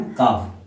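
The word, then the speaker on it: calf: काल्फ नहीं बोलेंगे। क्या बोलेंगे हम? काफ। ठीक है? तो काफ।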